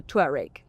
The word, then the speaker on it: Touareg: And it sits above the 3rd generation Tiguan and below the Touareg, that's how I say it.